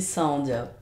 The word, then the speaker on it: Saandia: On dit Saandia. Saandia. Ouais. Avec Saandia. les deux A. Les deux A se prononcent.